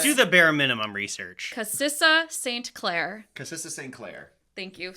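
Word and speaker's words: Kassia St Clair: Cassissa St. Clair.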